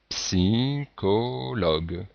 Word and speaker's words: psychologue: vous prononcez et bien vous dire psychologue si colog alors on remarque que lee grec se prononce comme un lit et on remarque que dans ce mot ch se prononce que alors qu'ici il se